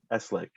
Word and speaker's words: Eslick: Is it Eslick? Is that how you pronounce it? It's Eslick. Eslick.